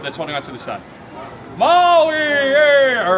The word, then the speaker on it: Maui: It's not there in the name of the island, Maui, right?